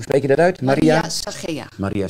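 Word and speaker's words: Zachea: Het zwijgen van, hoe spreek je dat uit? Maria Sagea. Maria Sagea.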